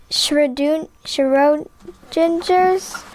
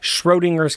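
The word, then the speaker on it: Schrödinger: says shroom oh wait can you help me pronounce this shredung gingers schrodinger's cat schrodinger's cat so let me explain schroeder's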